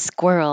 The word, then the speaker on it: squirrel: Oh, the famous squirrel. I don't get asked this much anymore, but squirt, like you're going to say were, but with a squawk. Squirt. So keep your lips rounded from the beginning.